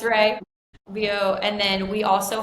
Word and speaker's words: Rea: We've got viomedspa.charlotte, and then we've got viomedspa.rayfarms, and Ray is spelled REA. Okay. For anyone wondering, not Rhea, it's Ray.